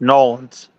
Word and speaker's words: New Orleans: It's actually pronounced wrong. It's Nolans. That's how they say It's it. It's called Nolans. Nolans.